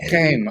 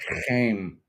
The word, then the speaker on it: Chaim: Shame. Oh, that's the Jewish pronunciation. That's right. Shame.